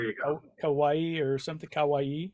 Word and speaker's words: kawaii: Kawaii. Is that how you say it? I would have rhymed it with Hawaii, but I guess that's more accurate.